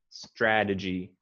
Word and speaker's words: strategy: i would say that i would pronounce the y a little stronger at the end strategy e okay try the g i i wouldn't um emphasize the the syllable um but i would just say it um maybe a little more clearly uh fully pronounce the e strategy strategy and you want to emphasize the a strat strategy strategy good